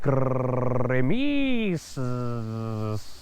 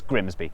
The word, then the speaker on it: Grimsby: But what if we told you it was pronounced Grimis? We'd be lying. It's Grimsby.